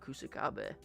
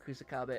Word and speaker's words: Kusakabe: how much I love Kusakabe. I never miss an opportunity to talk about Kusakabe or Kusakabe, right? People get annoyed when I say Kusakabe instead of Kusakabe, but it can be pronounced either way.